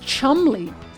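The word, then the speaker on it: Cholmondeley: So Chandley is pronounced Chumley.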